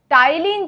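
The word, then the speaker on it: टायलिन: ठीक है, P silent है पर है। टाइलिन जो होता है वो है सैलिवरी एमाइलेज।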